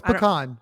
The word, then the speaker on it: pecan: Is it pecan? No, it's pecan.